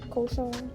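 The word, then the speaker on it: cochon: Kachchon. Koshan.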